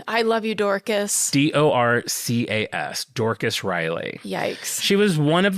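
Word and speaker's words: Dorcas Reilly: Her name is Dorcas Riley.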